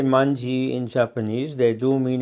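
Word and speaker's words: まんじ: Like, for instance, in China and Japan, you have the wanzi or the manji in Japanese. That's the Japanese pronunciation of the same Chinese characters, meaning literally the character 10,000.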